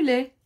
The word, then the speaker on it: lait: Ça se prononce pas. Le bébé boit du lait.